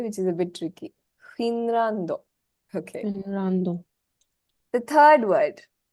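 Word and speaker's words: フィンランド: Finrando.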